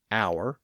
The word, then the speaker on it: hour: H at the front, some of which have retained that silent H, like honor, honest, hour, H-O-U-R, and heir, H-E-I-R.